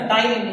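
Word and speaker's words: ptyalin: Salivary एक enzyme था, टाइलिन, अमाइलिन नहीं होता, टाइलिन एक एंटी, मतलब यूं बोलो कि एंटी बैक्टीरियल एजेंट है टाइलिन, PTYLIN, वहां पे साइलेंट है।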